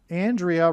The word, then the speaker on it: Andrea: Andrea rhymes with aliyah.